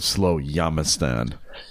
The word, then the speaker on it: Slowjamistan: So how does someone become a citizen of Slowjamistan? I just pronounced it correctly there.